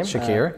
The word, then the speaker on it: Shakir: Khalil Shakir, I think is how you say his name. Shakir, yep.